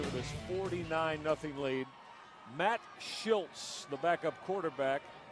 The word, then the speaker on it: Schilz: Matt Schilz, the backup quarterback. S C H I L Z. It is pronounced Schultz. Like there's a T in it.